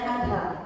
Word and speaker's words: Adha: Bacanya Adha. Adha. Adha dibacanya adha.